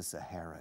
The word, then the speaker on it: Sahara: There's more sunlight because Morocco is very close to the Sahara Desert. In Spanish, el Sahara. In English, Sahara. Es un H. The Sahara Desert. El H se pronuncia, eh? Se aspira.